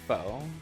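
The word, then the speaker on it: faux: still traumatized by uh foe oh foe yeah yeah f a u x why you got you pronounced just the F foe there's no o there those other letters are just fake yeah kind of like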